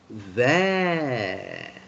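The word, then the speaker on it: vert: And how do you pronounce this? There. Can you say there?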